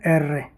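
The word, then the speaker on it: erre: आर को बोलते हैं एर्रे।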